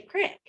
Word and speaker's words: creek: You just say crick. Really? Yeah, you say it's red and you spell it like creek, but you say crick.